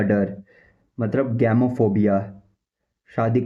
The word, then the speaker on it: gamophobia: शादी का डर मतलब गैमोफोबिया। शादी का, fear of marriage. गैमोफोबिया, गैमोफोबिया, गैमोफोबिया, गैमोफोबिया, गैमोफोबिया। इसकी जो स्पेलिंग है वो है GAMOPHOBIA।